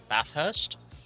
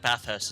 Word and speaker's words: Bathurst: Ursh bath Bathurst Beth please tell me I'm pronounced bathhurst I feel like Bathurst is right I really hope that is right well welcome to the